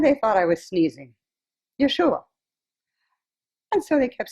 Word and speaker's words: Yeshua: first of all um the name jeshua that is something that is easier for you to pronounce but in my lifetime 2,000 years ago I was known as Yeshua I tried that out